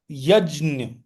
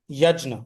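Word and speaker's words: yajña: the spellings for that so strictly speaking this would be pronounced as yaj okay nasal sound like that but as I said even the other spelling without the tilda is there in which case it would be simply yajna or janana right there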